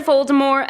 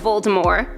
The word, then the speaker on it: Voldemort: The true pronunciation drops the T at the end of the name in true French fashion for the pronunciation of Voldemort.